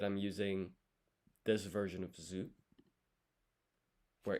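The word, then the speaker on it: づ: using this version of zoo where its rom equivalent is du but is pronounced z u zoo and then to drink is m.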